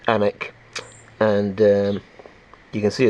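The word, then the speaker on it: Alnwick: hardy brothers makers uh almwick which is pronounced anik and um you can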